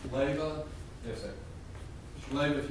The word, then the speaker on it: Leyva: It's pronounced Leyva.